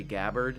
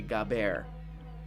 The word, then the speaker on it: Gabbard: Let's start spreading a thing that people are being really rude when they say Gabbard. It's actually Gabbard.